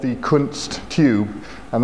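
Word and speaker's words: Kundt: the kunst tube and that's a word you got to be very careful when you pronounce it it was a tube that was first invented in the late 1800s by a German physicist by the name kunst that's u n DT and what it consists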